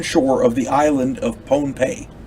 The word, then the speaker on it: Pohnpei: of the island of Pohnpei. I'm going to say it's pronounced Pohnpei because otherwise it sounds like Pompeii over there in Greece, and it's not.